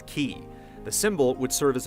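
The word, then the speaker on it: χ: out looks like x-blade the letter x represents the greek symbol for chi which in the kingdom heart series is pronounced as ki the symbol would serve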